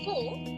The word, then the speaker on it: faux: So in four we've learned that the last letter is silent and uh a U is it sounds like the letter O in English.